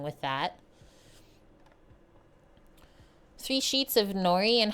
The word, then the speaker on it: nori: looks beautiful in Canada Nori rhymes with sorry always okay so first thing